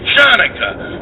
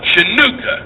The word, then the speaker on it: Hanukkah: So I was stuck with Hanukkah, or as many pronounce it, Chanukah, or in the Deep South, Chinooka. As in, are you going to be celebrating that Chinooka shit again?